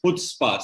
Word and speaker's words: Chutzpah: It's a very sorry to correct you, but the pronunciation of the same show is Chutzpah, C silent. Acha, Chutzpah. Okay. C is silent, so it's Chutzpah.